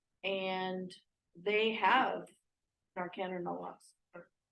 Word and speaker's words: naloxone: And something happens and they have Narcan or naloxone. How do you say that? Generic? Naloxone.